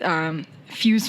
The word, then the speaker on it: Fyooz: So I think to start talking about what you have developed and are launching here in the community with Fyooz Financial. And that's how you pronounce it, right?